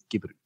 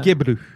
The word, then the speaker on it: Gebru: c'est l'article de Timnit gubru puis finalement gbru je pense c'est comme ça qu' faut le prononcer là je pense pas